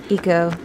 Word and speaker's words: Ico: And it is pronounced Eco. Anyone who pronounces it Aiko, you are pronouncing it incorrectly, because it is a Japanese pun.